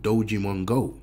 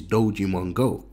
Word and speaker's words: Dogemon-Go: So what is Dogemon-Go? Now you might think it sounds familiar, okay, because it does. It rhymes with Pokemon Go, okay guys.